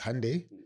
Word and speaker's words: Hyundai: No, it's Hyundai rhymes with Sunday.